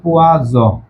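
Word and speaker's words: poison: এটা উচ্চারণ হবে পোয়াস নাজাল, এটা উচ্চারণ হবে পোয়াজ, এই নাজাল।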